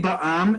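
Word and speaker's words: בע״מ: But when you see Ba'am and it's pronounced Ba'am, as I wrote here as the transliteration, you know that's a for-profit company.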